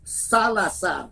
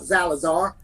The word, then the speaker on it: Salazar: They're more expensive than a Latina, but I always tell her it's pronounced Salazar, not Zalazar.